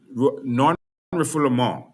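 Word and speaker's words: non-refoulement: All right non non reformul is the actual pronunciation. It's a French word, non-refle.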